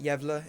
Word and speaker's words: Gävle: So hopefully I'm saying it right. Gävle is how they said it.